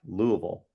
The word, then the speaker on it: Louisville: People don't pronounce Louisville. Yeah, it's Louisville, Louisville, Louisville, Louisville.